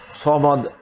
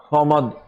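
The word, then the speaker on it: صمد: আল্লাহু সমাদ, সমাদ। আল্লাহু সামাদ নয়, সামাদ ভুল আরবি।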